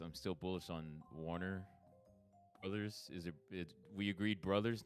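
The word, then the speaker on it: Bros.: uh Warner Brothers and even though it says Bros you have to say Brothers they still mean Brothers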